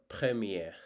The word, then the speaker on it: premier: first it's called premier it's called premier premier so don't too much I would say do do not concentrate on R sound too much because Uh sometimes R sound can be neglected based on the word you're trying to spell.